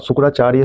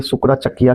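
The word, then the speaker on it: सुकरचकिया: पे डिस्कस किया हमने और शुक्राचार्य शुक्राचकिया कहते हैं इसको शुक्राचकिया यहां पे स्पेलिंग शायद मिस्टेक हो गया थोड़ा मुझसे मिल के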